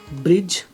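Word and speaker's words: bridge: डी के बाद जी आने पर, डी के बाद जी आने पर डी का उच्चारण नहीं होता, जैसे जज, बजट, ब्रिज, ऑक्सब्रिज, ऐसे वर्ड्स, ठीक है।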